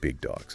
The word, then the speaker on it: bigDAWGS: That's bigDAWGS, but remember, we say it like bigDAWGS.